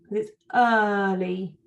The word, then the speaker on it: early: It does have the letters E-A, but it doesn't make a long E sound. It's early. It's not an E sound, is it?